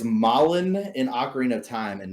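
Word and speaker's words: Malon: just gonna google it right now so it's malin in ocarina of time and marin in [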